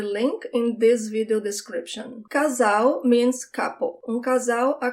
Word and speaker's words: casal: Casal. Casal. When the L is the last letter of the word, you do not roll your tongue. It sounds like a W in English. Casal. And I have a lesson